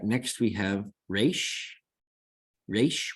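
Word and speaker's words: ריש: Resh, which gives you a nice R as in robin. Now you don't have to trill it or roll it or do anything fancy like that.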